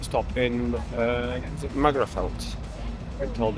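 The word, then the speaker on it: Magherafelt: Well, I'm having a quick pit stop in uh is it Magafelt? Been told it's pronounced.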